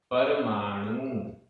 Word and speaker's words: परमाणु: सव्वेसिम, सव्वेसिम, खंदाणम, खंदाणम, जो, अंतो, तम, तम, व्याण, परमाणु, यहाँ ण में बड़े ऊ की मात्रा है, परमाणु, सो, सस्सदो, सस्सदो, आधा